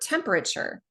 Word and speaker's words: temperature: And one example of that is the word temperature. That 3rd syllable, the letter A, you just need to know that you pronounce that A, rather than the usual A sound.